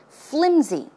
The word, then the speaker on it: flimsy: S sound but it's closer to a z z sound flimsy flimsy okay now flimsy means